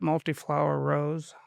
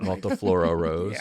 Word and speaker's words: multiflora rose: pronounce it wrong, but multiflower rose, is that? Yeah, I always call it multiflower row or something. Multiflora rose.